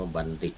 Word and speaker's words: บัณฑิต: ก่อน เออ นี่ ๆ เวลา เขียน นี่ เรา เขียน เป็น ท นาง บุญโพ นะ แต่ เวลา ออก เสียง นี่ จะ ออก เสียง ว่า ออก เสียง เด็ก อ่า ออก เสียง ว่า บัณฑิต แต่ วาด เขียน เป็น ทนาง บุญโท อย่าง ที่ เรา เคย